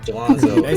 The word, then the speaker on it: Gelonzo: Gelonzo. Se llama Gelonzo. Gelonzo. There you go. Gelonzo, mira.